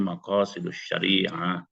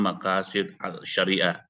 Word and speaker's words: maqasidus syariah: semua orang yang namanya maqasidus syariah cara bacanya gitu pak guru bukan maqasid alyariah memang tulisannya begitu transliterasinya ya tapi kalau dibaca maqasidus Syariah ya ada tasas tasdid di situ ya oke ee itu